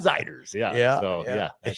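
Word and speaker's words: Zeiders: I'll bet you pronounced it the other way, didn't you? I did at first. Yes. Zeders? Zeders. Yep. Not Zeders, Warren Ziders.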